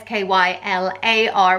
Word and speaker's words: Schuyler: you could spell at SK y lar which is probably slightly more the female version but yeah they're both pronounced the same way Skylar and if you were